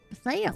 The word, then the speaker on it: Thale: Spire Thale? Is that how we pronounce that? Yeah, Thale. Thale.